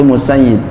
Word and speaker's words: Musayyib: Nah, ini bacanya Musayyab. Kalau Abu Sa'id itu Musayyib. Itu ada Musayyib, Musayyab. Dua pendapat kalau ya Abu Sa'id Musayyib ya, Al-Musayyib. Kalau ini ya Musayyab.